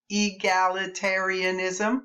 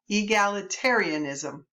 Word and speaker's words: egalitarianism: Here's the biggie: egalitarianism. Remember that one? Let's try to say that one again. Egalitarianism. Egalitarianism. 8 syllables. Egalitarianism.